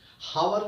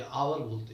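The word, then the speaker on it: hour: अब आप बोलेंगे एच वहां पर साइलेंट है, जैसे ऑनेस्ट, आवर, ऑनरेबल, कुछ भी शब्द बोल रहा हूं, देखिए एच से शुरू हो रहा है, ऑनरेबल, हॉनरेबल नहीं बोलते, हावर नहीं बोलते, आवर बोलते हैं, ऑनेस्ट, आवर, ऑनरेबल, एच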